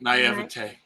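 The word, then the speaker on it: naïveté: And I don't know if it's just naivety. How do you say that? Naivete.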